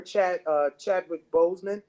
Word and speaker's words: Chadwick Boseman: I remember Chadwick Boseman.